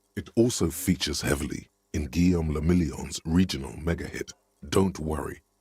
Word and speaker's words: Guillaume le Million: For Revachol, your city, that meant only one thing: Guillaume le Million. If it doesn't rhyme, you're not pronouncing it.